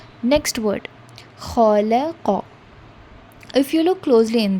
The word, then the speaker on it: خلق: Coming to the first alphabet, that is kha. Whenever you're reciting this kha letter, remember there is a kind of vibration in your throat.